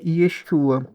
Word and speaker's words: Yeshua: Yudishim Vaviai, que é pronunciado Yeshua.